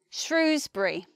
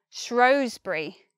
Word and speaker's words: Shrewsbury: word, you'd think, yeah, that place is Shrewsbury, Shrewsbury, with the long oo, the oo vowel, Shrewsbury. But actually many people say Shrewsbury, oh, Shrewsbury, Shrewsbury. And this place name, I believe the distinction about which one's correct has something to do with whether you're posh.